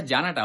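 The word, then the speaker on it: 十二: দুই হচ্ছে নি। এই দুইটা শব্দকে যদি একসাথে আপনি উচ্চারণ করেন জুনি। এই জুনিটাই হচ্ছে 12। একইভাবে আপনি যদি বলতে চান 15 জাপানিজে কি হবে?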